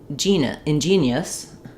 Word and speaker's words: ingenious: So let's look at how to pronounce ingenious versus ingenuous inen in ingen ingenious. Um it's just this is just like the word genius ingenious.